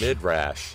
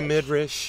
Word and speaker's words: midrash: risky not your midre your midrash midrash mid rash I well yeah I say mid rash you say mid you say mid Rish I say mid rash